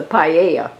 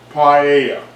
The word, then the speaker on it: paella: know how it smells it sounds like paia pie a paella yep well if one